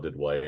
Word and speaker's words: Duduit: It's at Del Didway. My website is at Del Didway, and the last name is spelled Duduit.